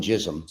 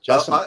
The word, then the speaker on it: Jasim: Because I call him Jism, and I'm sure that's not how you pronounce it. Jasim. I say Jasim. Some people say Jasim, but the Jasim.